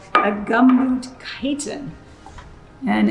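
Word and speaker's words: chiton: So you can write snail on your list, and chitin is spelled C-H-I-T-O-N.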